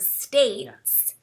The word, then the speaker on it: states: a short A sound, the word states uses a long A sound. So we really enunciate that states, that long sound, states.